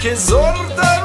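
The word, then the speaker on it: Kyzylorda: Kizorda region, is how you pronounce me.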